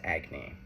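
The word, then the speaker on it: agni: In Sanskrit, the word for fire is agy. Also, I may not be pronouncing it correctly.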